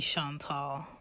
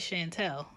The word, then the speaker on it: Chantal: My name is French. It is spelt Chantal. Yes, I may be short, but at the end is the tall, okay?